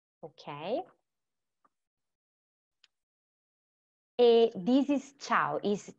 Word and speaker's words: ciao: This is ciao.